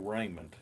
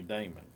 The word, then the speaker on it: Daymond: didn't even call me Damon that's somebody else's name yes I know all about you Raymond well he really didn't know about me because he didn't even pronounce my name right and and and that's